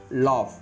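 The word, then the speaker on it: laugh: next rule three பாருங்க ஜி ஹெச் ஒரு சில இடங்களில் f ஒளிவடிவில் வரும் ஜி ஹெச் க்கு ஒரு சில இடத்துல எப் அப்படிங்கிற சவுண்ட்ல வரும் அது என்னென்ன எக்ஸாம்பிள் பாருங்க காஃப் லாப் டஃப் இந்த இடத்துல இஃப் காஃப் இஃப் அப்படிங்கிற சவுண்ட்ல வருது எப் சவுண்ட் இஃப் நெக்ஸ்ட் பாருங்க ஹச் ஒரு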